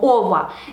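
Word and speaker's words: ого: Y ahora hemos dicho que este número ordinal hay que poner en caso genitivo y tendrá la terminación ogo, que se pronuncia como ova. Entonces tenemos 15.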